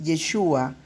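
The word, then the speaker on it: ישועה: vosotros os quedáis callados la palabra hebrea para salvación es yeshua con el acento en la a el nombre del masia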